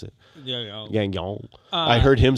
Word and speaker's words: Gagnon: I can't pronounce it. Gagnon.